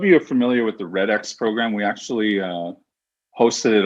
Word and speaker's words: REDx: It's actually Red Talks. I mean, people often get confused. Is it REDx or is it just Red Talk? The X is silent, like my last name. So some people say, some people say REDx, but it's silent, like the French X